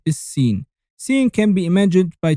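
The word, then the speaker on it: س: The 12th letter is Sin.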